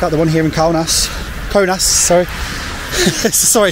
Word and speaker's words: Kaunas: We will see it written with a K-A-U, and our brain will say cow.